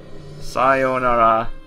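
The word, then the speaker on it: さようなら: so you said kicha now you've probably heard saara saonara that has a long o here you might just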